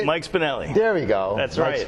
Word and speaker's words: Mike Spinelli: Mike Spinelli.